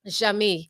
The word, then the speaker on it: Jeamie: Jeamie.